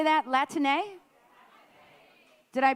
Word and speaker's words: Latine: Can you all say that, Latine? Did I pronunciate that correctly, folks? Latine, yay.